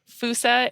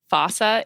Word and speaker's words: fossa: So Foosa is often also pronounced in the Malagasy way, just because of the way that they use their pronunciations. Fossa is also a totally acceptable way to say it.